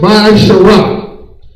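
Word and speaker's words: מעשר: It means a tenth in Hebrew and pronounced Ma'asharah.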